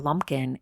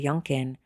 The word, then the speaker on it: Yunkin: question during his testimony he repeatedly mispronounced Lawrence's name referring to him as Mr lumpin instead of Mr yunin which may have undermined